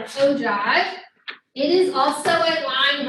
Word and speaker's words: ogive: All right, so the third graph is called an ogive. It's spelled a little weird because it has that G in it, an ogive.